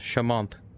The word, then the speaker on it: Shamanth: My name is Shamant from India and it's pronounced Shamant.